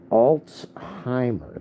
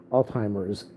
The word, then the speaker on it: Alzheimer: it up today I looked up how to pronounce that word Al Al what Alzheimer that's what it is I used I call I usually say Al Al Al Alzheimer's it's Alzheimer so it'ser at the end Alzheimer